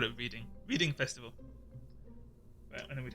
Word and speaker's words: Reading: Um, in England there's also a place near London called Reading and I used to live there, but it's spelled I E A D I N G. And a lot of Americans when they come there to go to the reading festival would say reading and call it reading